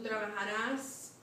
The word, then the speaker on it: trabajarás: Tú trabajarás. Acento en A, muy bien. Tú trabajarás.